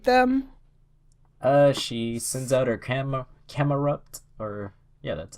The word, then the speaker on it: Camerupt: She sends out her Camerupt, or yeah, that's how it's pronounced.